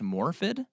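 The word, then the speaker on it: Morfydd: Clark plays um gladel her name is morphid yeah look how it's spelled she's Swedish that cool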